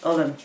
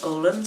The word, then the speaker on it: Ullen: So Ullen are gone out of, or some people call them Olin, but the pronunciation, Irish word for wool is ull, a bit like the Swedish word I think, and maybe the Norwegian, I'm not sure.